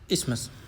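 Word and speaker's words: isthmus: हैं इसे बोलते हैं इस्मस आई एस टी एच एम यू एस यानी बी ऑप्शन करेक्ट हो गया इस्थ नहीं बोलते हैं इसमस यानी टीएच यहां साइलेंट रहता है इस्मस स बोलते हैं।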